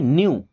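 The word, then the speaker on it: knew: न्यू। के एन ई डब्ल्यू यहां पे के और केवल के ही साइलेंट है।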